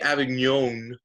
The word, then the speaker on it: Avignon: These two facts are kind of happening all at the same time as what's called the Avignon. You got to say it like French. The Avignon papacy and the Great Schism.